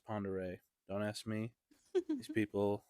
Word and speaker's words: Pend Oreille: Ponder it's actually it looks like it's Lake Penn Orel but it's pronounced Ponder don't ask me these people I don't get